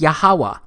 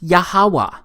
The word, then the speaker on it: Yahweh: But this YHWH, it's pronounced as Yahweh, because it turns out that the language was so simple back then that it vocalized each consonant with an ah sound without specifically marking that sound between consonants.